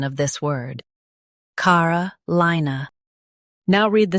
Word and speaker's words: Carolina: car uh li nuh Carolina Stress li in Carolina.